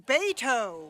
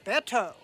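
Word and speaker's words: Beto: is Betsy overworked but his political foes delight in saying baito rather than bet oh where is my opponent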